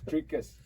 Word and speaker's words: Dricus: Yeah, it's Dricus. Okay. Dricus.